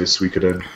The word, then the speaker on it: Suikoden: It's, you know, it kind of looks more like I pronounce it Suikoden, but some people say Suikoden.